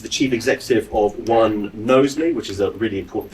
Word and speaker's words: Knowsley: Down at the end there, I've got Rachel Jones, who's the Chief Executive of One Knowsley, which is a really important thing. Did I pronounce Knowsley right?